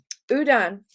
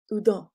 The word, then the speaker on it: Houdon: Houdon is how that's pronounced. Houdon, I think.